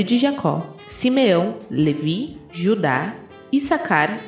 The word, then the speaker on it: Issacar: Eu não sei a pronúncia de Issacar ou Issacar. Não, é Issacar, né?